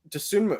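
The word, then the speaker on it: Dosunmu: How you pronounce that? Desunmu.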